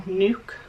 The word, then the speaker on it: NUK: the bottles we've chose this time which are nuke but that's how you say it and yeah